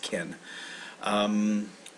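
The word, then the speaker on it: 県: And so but it's pronounced ken.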